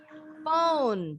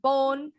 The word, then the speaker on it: phone: Nah, baca PH bunyinya F ya. Contoh, jadi kalian nggak boleh lagi bilang dolphin, tapi dolphin bacanya. Dengan huruf F, dolphin. Phone juga sama, bukan phone, bukan telepon, tapi phone. Telephone.